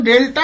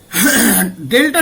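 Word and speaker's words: del: অব্দি কি কি শিখলাম ডেলটা ন্যাবলা আর শিফট অপারেটর থার্ড প্রপার্টি হচ্ছে ডেলটা ঠিক নয় ডেল আমি এই উচ্চারণটা খুব ভুল করি ডেল আর শিফট অপারেটরের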